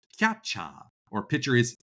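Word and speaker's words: キャッチャー: A lot of the Japanese terms for players are loan words from English. So catcher is pronounced catcha or pitcher is picha or strike is sutiku.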